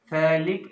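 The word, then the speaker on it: phthalic: थैलिक acid, यहां पर P silent होता है, थैलिक एसिड, ओके स्टूडेंट।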